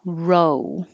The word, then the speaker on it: row: And 37 can be row. Most common for Americans, like row of chairs. Like I'm sitting in the first row. Or it could be row like row a boat. Row is another pronunciation for that spelling, and it means an argument or a fight, and that would be ow.